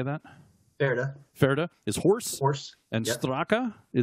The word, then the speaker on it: Pferd: Ferde.